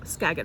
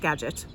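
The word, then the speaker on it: Skagit: I asked him about the skagg valley which apparently is pronounced scet I was wrong scet Valley and and then he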